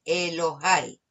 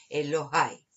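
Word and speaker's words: אֱלֹהַי: En este caso, como vemos, tenemos la A y seguida de la Yod. Y en este caso también con la A hace el mismo sonido que hemos aprendido de la E con la Yod. El E con la A también. Entonces por eso leemos Elohai.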